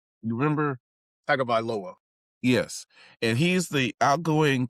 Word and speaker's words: Tagovailoa: I forget how to pronounce his Yep. last name. You remember? Tagovailoa.